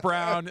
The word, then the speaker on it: Braun: There was Bruce Brown. There was the guy whose name is spelled Braun but said Brown from the Nuggets.